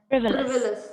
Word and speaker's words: frivolous: Frivolous. Frivolous. Exactly. The stress is on the first syllable, frivolous.